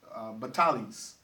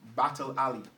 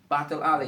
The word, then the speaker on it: Battle Alley: And so that area, we refer to that area as Batalis. Mm-hmm. But actually, the correct pronunciation is Battle Alley. Battle Alley.